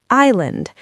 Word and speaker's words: island: Think about the word island. We write the letter S, but we do not pronounce it.